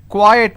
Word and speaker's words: quiet: means little or some quiet means silence q-u-i-e-t is pronounced at quiet quite means q-u-i-t-e so